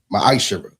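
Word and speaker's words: מעשר: Means tenth in Hebrew, and it's pronounced ma'ashara.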